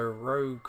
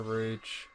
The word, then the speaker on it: Rouge: Right, so, yeah, so Rogue or Rouge. I'm going to call her Rouge. It's a bit easier to say. Yeah, and I think that is correct anyway, because they do say her name.